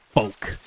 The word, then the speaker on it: folk: struggle to say because it is kind of like folk like with a weird silent L and I don't know.